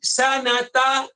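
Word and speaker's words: سنة: Perenggan yang kedua, Wulida Umar bin Abdul Aziz sanata wahidin wa sittin lil hijrah. Okey. Wulida dilahirkan. Okey. Umar bin Abdul Aziz dilahirkan. Bila dilahirkan? Sanata. Okey. Dibacanya sanata. Ta dibaca dengan baris atas.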